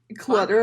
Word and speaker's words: Clutter: But on November 15th, 1959, the Clutter family, Clutter, as in there's lots of clutter on the desk? Yeah. Unless it's pronounced Cluter, which I hope not.